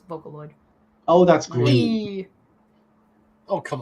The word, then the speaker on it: Vocaloid: potentially a unicorn horn Vocaloid sorry I pronounced that wrong it's Vocaloid oh that's green oh